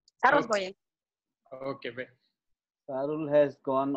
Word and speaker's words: Sarul Bhuiya: Mungun, how do you pronounce the Sarul Bhuiya name? Can you hear me? Yeah, you are correctly pronouncing. Sarul Bhuiya.